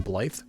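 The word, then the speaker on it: Blaidd: Is it Blade or is it Blythe? Because I think he pronounces it Blythe. But it's spelled B-L-A-I-D-D.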